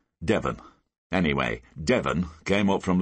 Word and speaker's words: Devon: eyebrows Blackstone side bloke goes by the name of Devon spelled like the county Devin anyway Devon came up